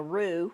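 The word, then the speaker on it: roux: what we're doing is making a rue which is spelled Ro ux and it's the beginning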